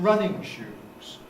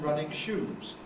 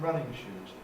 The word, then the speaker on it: running shoes: I'm going to buy some running shoes. If you said, I'm going to buy some running shoes, well, it sounds very strange. It's as if the shoes are running instead of shoes for running.